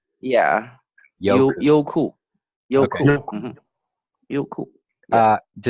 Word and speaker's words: Youku: I mean, but so first, Jerry, you pronounce this Youku, right? Yeah. Youku.